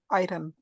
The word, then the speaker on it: iron: Generally, we said iron. Yes, it's not iron. It is iron. It Iron. is iron. Iron. Iron. Okay, R is silent.